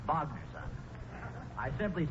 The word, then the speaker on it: Wagner: That's pronounced Wagner, son.